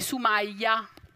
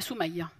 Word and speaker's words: Sumaya: Per esempio, tutti mi conoscono col nome di Sumaya, con la bella aperta. Ma il mio nome è Sumaya, che vuol dire colei che si distingue.